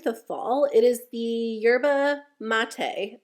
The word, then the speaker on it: yerba mate: fall it is the Yerba mate I said it wrong last time I talked about it I said you're about me but a lot of you guys said it's yerba mate wake up eye gel